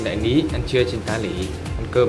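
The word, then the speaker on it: 大里: Ở bên này đại lý tiếng Việt thì đọc là đại lý, còn bên này người ta gọi là tá lỉ.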